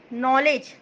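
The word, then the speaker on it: knowledge: लिंग होता है दस्ता नॉलेज के एन राव डब्ल्यू एल ई डी ईपी 9 मैं इसमें के साइलेंट रहेगा इसकी हिंदी मीनिंग क्या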